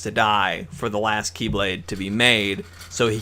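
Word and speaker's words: χ-blade: He's trying to form the Keyblade. It has an X with a blade, but it's pronounced Keyblade.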